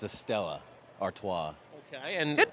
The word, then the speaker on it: Stella Artois: It's a Stella Artois. Okay, and good pronunciation, one Alex.